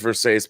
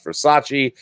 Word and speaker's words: Versace: It says Versace because famously in the movie, the character of Nomi Malone, played by Elizabeth Berkley, does not understand how to pronounce Versace, and she calls it Versace.